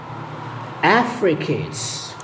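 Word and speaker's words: affricates: 16 إنها نطقين، يا أما التجديد على المقطع الأول ونقول Africates. Africates. Africates.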